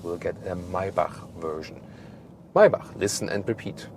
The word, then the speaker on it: Maybach: Maybach, listen and repeat. Maybach, that's the German lesson for today, because the CH we don't pronounce like k, but k.